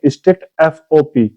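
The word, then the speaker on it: strictfp: इसको लिखते हैं स्ट्रिक्ट एफपी, लेकिन वो इसको प्रोनाउंसिएशन कैसे करेंगे? स्ट्रिक्ट एफओपी। एफओपी मतलब फ्लोटिंग पॉइंट।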